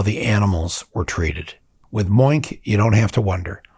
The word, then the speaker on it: Moink: With Moink, you don't have to wonder.